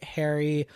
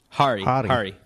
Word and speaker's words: Hari: Apu is a character from The Simpsons, and so this is a documentary by Harry Kondabalu. Was I even close on that? Hari.